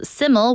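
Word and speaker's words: SYML: heard heart breakdown by siml the stage name is spelled s yml and is pronounced siml which translates to simple in Welsh siml is the stage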